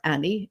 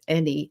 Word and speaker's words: any: But like if you mispronounced a word, or if you said Manny or Annie instead of any and many, I used to get a note about those. Annie is a girl's name, it's any.